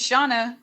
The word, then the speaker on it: Shana: asking it's shauna yeah am i hearing it wrong it's shauna that's what they're saying right okay perfect thank you for asking